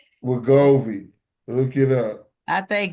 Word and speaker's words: Wegovy: W is Wigor Wigori WEGORY GOVY Wegovy WEGOVY Wegovy. Look it up, I think you just need to JJ. spell it because you struggle. WEGOV as in Victor Y. Wegovy.